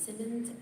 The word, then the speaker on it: Simmons: Simmons SI m o NS I'm from sd5 I